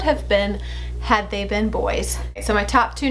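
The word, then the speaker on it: Beau: if the twins had both been boys they would have been Bo Grady and Bo is spelled b e auau and Grady is a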